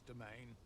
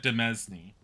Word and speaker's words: demesne: finer Artisan in this domain that's how you pronounced that I always looked at that word and said demesne copper take it it's